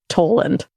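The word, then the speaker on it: Tollund: now he's got a face how do you spell it it's t o l l u n d toand Tolland u n n d oh wow okay well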